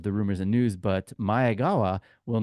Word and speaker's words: Maegawa: It's not Maegawa, it's Maegawa.